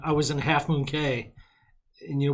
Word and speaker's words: Cay: was in Half Moon Cay you know we don't go with the key pronounciation we go with the spelling yeah and they had